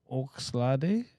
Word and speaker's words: Oxlade: I'm trying to How you pronounce that name? Oxlade? Yeah. I thought it was Olade.